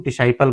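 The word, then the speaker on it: disciple: Science और इसे भी हमने सी को साइलेंट कर दिया। इसे हम डिसाइपल बोलते हैं।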